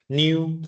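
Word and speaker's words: ν: we can give you a new how to pronounce it new okay for some ratio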